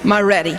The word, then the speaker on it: Maredy: here good evening everybody say ma ma now say ready ready like Mama are you ready that's how you pronounce my name Mar ready just put it together